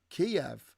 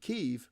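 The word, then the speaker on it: Kyiv: the invasion was that you don't pronounce the capital of Ukraine Kiev like chicken kiev you pronounce it keev because that's how the ukrainians say it and then also you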